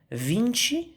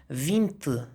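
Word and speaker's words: vinte: اخر رقم فينشي بلهجة البرازيل، لكن لهجة البرتغال فينت. فينت. انتوا بقى ايه؟ بالورقة والقلم الحلوين بتوعكم اكتبوا كده نوتس في الورقة. اخر حرفين التي اي في البرتغال يتنطق ت ت، لكن في البرازيل تشي تشي، ودي قاعدة ثابتة.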